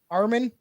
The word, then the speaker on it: Armin: That's how you pronounce it, Aaron? Armin.